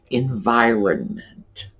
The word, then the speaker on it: environment: because, like I said, that middle N, we just barely touch on it. And sometimes I'll stop myself and say, wait a minute, did you say that right? Because I'm not sure what I heard. I don't really think I heard the R or the N.